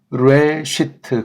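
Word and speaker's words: בראשית: 하는 겁니다 한번 다시 읽어보겠습니다 그 다음에 시트 브레시트 그렇게 읽는 것이 기본입니다이 불안은 발음에 대해서 이렇게 밑에 점 두 개 찍은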